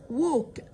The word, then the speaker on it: walk: walk يمشي، ال L silent مش بننطقها والماضي منها walked.